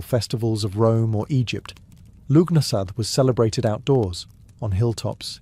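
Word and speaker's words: Lughnasadh: Lugnasad, pronounced Lunasar, the Celtic festival honoring Lug, the god of light, craftsmanship, and war. Unlike the grand temple festivals of Rome or Egypt, Lugnasad was celebrated outdoors, on hilltops, in fields, and by sacred wells.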